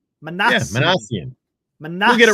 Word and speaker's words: Minasian: It's Minasian. Arthur, trust me. I was on Google listening to pronunciations. It's Minasian. Minasian.